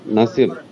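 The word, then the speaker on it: نصیب: হ্যাঁ ভাগানে কে লিয়ে নাজাব নাসাব নাসিব উচ্চারণ নুন সয়াদ বে বা হবে নাসিব নসিব ভাগ্য নাসিব নাসিব তো ভাগ্য জি।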